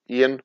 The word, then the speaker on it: Eoin: Eoin, I'm sure that's not the right way to pronounce that name. Ian, I'm going to say Ian.